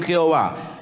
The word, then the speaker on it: Jehová: Prácticamente, si nos quedamos con la pronunciación Jehová, que es la que nosotros los pentecostales siempre pronunciamos, nosotros nunca nos hemos acostumbrado a pronunciar Yahvé.